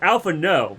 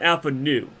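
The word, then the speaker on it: Alphinaud: Also, it's Alpha No, not Alpha Nu.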